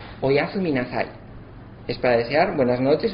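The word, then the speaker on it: おやすみなさい: Son 7 sílabas y son Oyasu minasai. Es para desear buenas noches o un buen descanso. Oyasu minasai.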